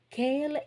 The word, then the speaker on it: quelle: Quelle est l'opinion de Paul? What is Paul's view? Okay, so avis masculin, so Q-U-E-L. Opinion féminin, so Q-U-E-L-L-E. Quelle est, but the pronunciation is the same thing.